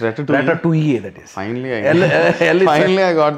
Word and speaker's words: Ratatouille: It's Ratatouille, that is. Finally I got the pronunciation.